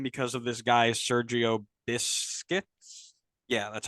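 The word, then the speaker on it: Busquets: get much time because of this guy's Sergio biscuits yeah that's how you pronounce that um you also had a young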